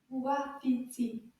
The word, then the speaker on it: wapiti: Wapiti. Can you count the syllables with me? Wapiti. Let's try that again. Wapiti. Bravo. 3 syllabes.